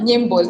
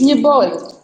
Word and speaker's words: Nibol: But it's not Nimbol. It's Nibol. Or Nyebol.